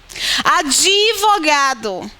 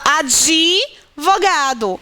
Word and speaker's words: advogado: Advogado. A gente pronuncia com I. A gente fala advogado. Em Portugal, eles pronunciam advogado. Esse D é quase que puxado, né, pela vogal anterior.